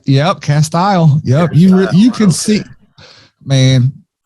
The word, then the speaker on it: Castile: Castile.